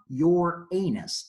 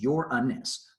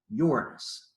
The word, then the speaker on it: Uranus: Friends, this is not your anus, this is Uranus. 3 short syllables. Let's all try that. Uranus. Good. See, when you say it right, it just rolls right off the tongue. Uranus.